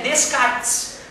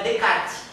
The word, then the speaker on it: Descartes: kart é se escreve Descartes mas em francês não se pronunciou S né então é descarte René descarte grande gente agora olha